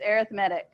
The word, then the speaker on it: arithmetic: 76 they're talking about arithmetic that's how you say it looks like arithmetic it adds an adjective it's arithmetic combinations of functions so combination come